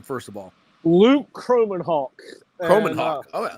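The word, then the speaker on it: Kromenhoek: quarterback Luke croman o how how do you pronounce his last name first of all Luke croman Hawk croman Haw oh croman Hawk and uh Luke is a first of all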